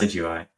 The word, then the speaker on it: Decidueye: but I don't know how to pronounce that. Decidueye.